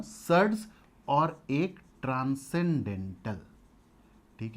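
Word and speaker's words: surds: एक को कहते हैं हम सर्ड्स, शूद्र से मत पढ़ना, सर्ड्स, और एक ट्रांसेंडेंटल।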